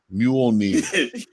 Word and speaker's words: Mjolnir: Mjolnir. The It's J like is Ray silent. Shaboom. It's like Jose, but the J is silent.